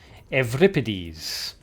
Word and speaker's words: Euripides: Name is actually pronounced Euripides. It's a Greek name.